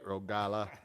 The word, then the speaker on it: Rogala: Got to say it right, Rogala. Give me a holla, Rogala.